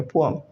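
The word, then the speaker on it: poem: आप बचपन से बोल रहे हो पोएम, पोएम नहीं होता, एग्जैक्ट प्रोनाउंसिएशन होती है पोअम। क्या होती है? पोअम, right. आगे से पोएम नहीं कहना, इट्स पोअम, अंडरस्टूड। तो उसमें वो सुना होगा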